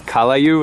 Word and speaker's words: callaloo: And it's callaloo, is that how you say it?